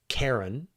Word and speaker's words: Charon: There's the English-sized version of it where you say Karen, right? Where you give this hard K, which makes the sort of the folks on the internet happy.